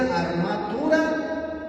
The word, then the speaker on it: armatura: sí Y esta palabra viene del latín y se pronuncia armatura y significa traje para